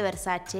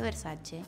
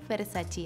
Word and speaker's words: Versace: redes me crucificaron debo decir porque se dice Versace y donatella ha hecho Campa aas incluso contando que su marca se pronuncia Versace Y yo que hice fue y dije versachi así que ya aprendí fue una lección fue